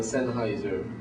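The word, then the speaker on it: Sennheiser: think is the highend Plantronics or um siser siser that's how you say it I don't I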